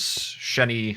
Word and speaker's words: Xeni: And one of their writers, Sheni Jardin, I think that's how you say her name. It's spelled Xeni.